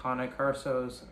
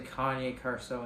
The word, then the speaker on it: Cane Corso: Same thing with like Cane Corsos. I said the name wrong so much, people are gonna get mad. At least I don't say Kanye Corso anymore.